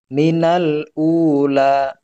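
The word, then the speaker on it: الأولى: Harus jelas dibaca lamnya. Minal ula, ya gitu.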